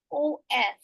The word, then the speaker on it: of: So when it is in a connected speech, you are saying a sentence, there usually the word should sound like of and not off.